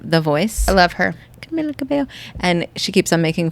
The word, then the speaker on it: Camila Cabello: so funny so she he's like Carmelo I love Blake she's like it's Camila Cabello Camila Cabello she's so cute so